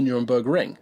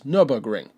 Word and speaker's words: Nürburgring: people were commenting about it not being called the Nuremberg Ring, that it's Nürburgring.